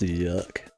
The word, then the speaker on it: YIIK: It's pronounced yuck.